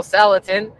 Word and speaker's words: Salatin: And for those of you who guess Joel and Daniel Salatin or rhymes with gelatin, you are correct.